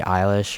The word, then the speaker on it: Eilish: Let's say, for example, it was like a fake thing from like Billie Eilish or whatever. How do you say eyelash?